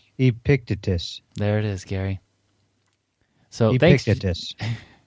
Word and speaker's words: Epictetus: I don't know how to pronounce that person's name. Epictetus. Epictetus. Epictetus.